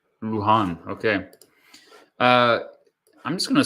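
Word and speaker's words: Luján: me first of all how do you pronounce it lujan luhan pronounced name luhan okay uh i'm just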